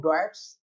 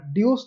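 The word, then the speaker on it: Deutsche: ये इसकी स्पेलिंग ये होती है DEUTSCH। ये जर्मन भाषा का एक शब्द है, ठीक है। भारत में उसे जनरली ड्यूस कहा जाता है, जर्मन में उसका जो प्रोनाउंसिएशन है वो डॉयट्स बैंक है, डॉयट्स बैंक, ठीक है। इंटरव्यू में बोलना तो डॉयट्स बोलना, ड्यूस नहीं बोलना, ठीक है।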